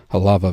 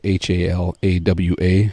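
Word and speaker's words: Hālawa: That's spelled Halawa. W's sound like V's in Hawaiian.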